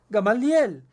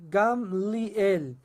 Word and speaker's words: Gamliel: el cual Ramban Gamliel, usted probablemente pensaba que se pronunciaba Gamaliel, pero la pronunciación correcta en hebreo es Gamliel.